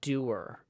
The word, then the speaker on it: dour: And Ramesh and Joe, they both have this thing where they're kind of dour, or which might be pronounced doer in the UK.